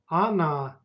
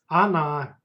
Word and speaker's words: она: Она. And pay attention to letter O. In speech, it's pronounced like a. Она.